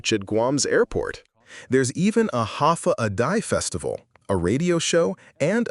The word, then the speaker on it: Hafa adai: Hafa adai pronounced ha a day.